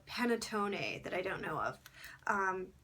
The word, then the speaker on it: panettone: It's kind of like the word Pantone, but if you added an extra E and an extra T to make it panettone or panettone.